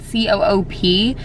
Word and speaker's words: Coop: They also have a Coop maybe, but it's spelled C-O-O-P. So back in America, we would probably pronounce that Coop, but I think it's Coop.